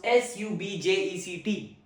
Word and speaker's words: subject: Sub, the first syllable is stressed.